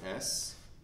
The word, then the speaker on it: Sheridan: So we have Sheridan, Sheridan. We don't really pronounce this I.